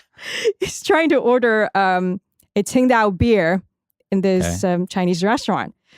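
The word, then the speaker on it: Tsingtao: Ting Dao? That'd be the English. In Cantonese, it is Qingdao.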